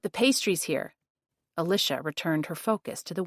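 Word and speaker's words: Alisha: "Nice to meet you, Alisia." I pronounced the name with four syllables as I usually did. My name is Alicia.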